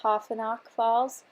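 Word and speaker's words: Taughannock Falls: The photo that I'm scrapbooking today is a picture of the beautiful, I believe it's pronounced Tofinock Falls in New York.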